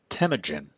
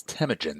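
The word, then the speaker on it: Temüjin: as Jenis Khan and his real name was tagen that's tagen that's te m u j i n tagen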